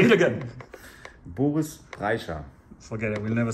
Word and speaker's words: Boris Brejcha: Well, we pronounce it different, but Boris Brejcha. Boris Brejcha. Oh, say it again. Boris Brejcha.